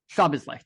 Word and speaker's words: Szoboszlai: Szoboszlai, thank you.